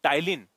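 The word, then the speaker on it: ptyalin: तो मनुष्य के लार में पाया जाता है टाइलीन। टाइलीन को लिखते ऐसा है। देखो याद रखना। टाइलीन। टाइलीन में पी जो है साइलेंट है।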